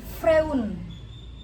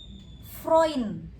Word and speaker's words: Freund: Jadi bacanya bukan Freun, tapi dibacanya Freund. EU itu jadinya OI.